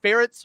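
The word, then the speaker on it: Ferentz: his name but yes ferrets rhymes with parents so just had to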